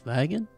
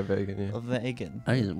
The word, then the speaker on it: vegan: is this this is wagon wagon that's a wagon oh yeah vegan what's they say you're certain you're pronouncing it wrong it's vegan oh what's that forgot